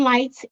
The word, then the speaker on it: Lytes: going to start shining lights Inc lights is spelled lytes um back in the